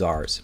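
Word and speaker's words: tsar: Zars high level advisors yeah Zar like a z the Zar of I mean this is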